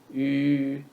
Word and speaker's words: 语: 词, 词, 语 is the sound of the vowel, yu in the third tone. 语语词语 means